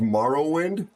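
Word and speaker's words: Morrowind: It's pronounced Marowind.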